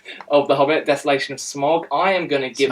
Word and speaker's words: Smaug: say it wrong yeah did I say smog you said smog we we were talking about this at the beginning and you're like oh smog no it's not smog desolation of smog smog smog yeah so